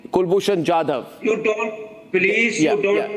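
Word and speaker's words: Kulbhushan Jadhav: Not Kulbushan Jade. Kulbushan Jadav.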